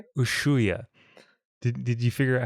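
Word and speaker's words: Ushuaia: Ushua. Did Did you figure out how to spell it just from that pronunciation?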